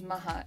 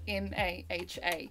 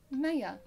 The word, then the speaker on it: Maha: So a lot of people can't pronounce Arabic names. Like my name is Maha, M-A-H-A. Maha. And yet I get like, ah, Maya.